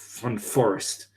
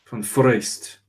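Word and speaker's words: Van Foreest: I was upbraided by a Dutch chap who told me that my pronunciation was incorrect because I said Van Forest. Van Forest, apparently.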